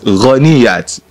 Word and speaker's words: Ghaniyat: You never accept that you call her Ghaniyat, because Ghaniya lo saw me, but phonetically you are meant to call it Ghaniyat, but she won't agree anyway.